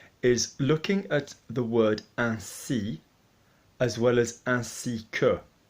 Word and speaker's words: ainsi: So we're looking at AIN as un, okay? Unless we have an E after it, like certaine or semaine, we're obviously going to be pronouncing that like an un.